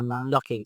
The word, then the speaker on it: knocking: Silent K for knocking. Yeah, knocking. Silence. So you don't say case, just knocking.